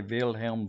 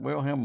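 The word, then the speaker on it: Wilhelm: u n DT uh if you want to pretend you're German you could say vilhelm V but will him W that's the American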